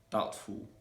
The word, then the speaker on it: doubtful: like yeah so the letter b is usually going to be silent when it comes before t so for example in the words doubtful doubtless undoubtedly subtle subtleness